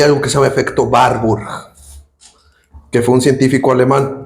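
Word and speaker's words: Warburg: que se llama efecto barbur que fue un científico alemán no gringo alemán así que no se dice warb se dice barb así es er alemán alemán no gringo alemán que quede claro él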